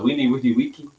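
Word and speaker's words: veni, vidi, vici: I guess they say that the V's is W, so Vini Vidi Vici, or Vici, depending on your Latin pronunciation.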